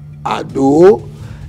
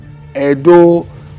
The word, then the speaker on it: Ado: around 1704 to 1749 his father was Oba Adu a corrupted collo pronunciation of Ado please note that anytime